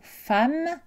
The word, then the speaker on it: femme: exceptions essentiels à savoir la lettre e et prononcé à dans le mot femme et dans les adverbes